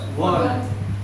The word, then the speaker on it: one: One. One. Yes. One. Yes. Where is One. O? Is there O there? No. No. In pronunciation. What is there? What is the sound there? Wa.